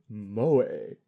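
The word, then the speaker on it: moe: English speakers at 8:00 pronounced mo pronounced mo a Hey now that we've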